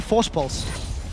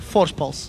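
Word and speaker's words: Voorspoels: know how to pronounce just say Force pulse say it like you would say cidan with a bit of a lisp with his his e so it's Mitch crepo Force pulse force pul and they said that's how you say my name so cool story bro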